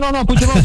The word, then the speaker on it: Puigdemont: Que son los que están liderados por Carles Puigdemont, que es el líder. Lo pronuncié mal, ¿no? ¿Cómo se pronuncia? No, Puigdemont, no, perfecto.